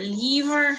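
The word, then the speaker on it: livre: words on this slide thinking about the word leaver right for book or ps de resistance you can see that the eye does often take on the lung e sound we had a very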